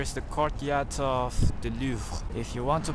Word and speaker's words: Louvre: the courtyard of the Louvre. If you want to pronounce it correctly, it's not Louvre, it's not Louvre, it's Louvre, Louvre, with sound, because the R sound is like a H in French.